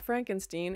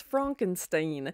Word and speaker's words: Frankenstein: And even the way Frankenstein, when he's like, it's not Frankenstein, it's Frankenstein.